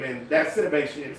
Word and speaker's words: Sidibe: And you still said her name wrong. Sibian, At least give her the credit. Said you talking about cities. S-I-D-I-B. It's Gabrielle Sidibe.